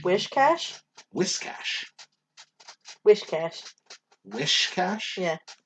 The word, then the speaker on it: Whiscash: Whiscash. Wishcash? Whiscash. Wishcash. Wishcash? Yeah. It's not wish, though. It's yeah. whis.